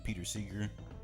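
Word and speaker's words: Pete Seeger: That's how you say his name, Peter Seeger.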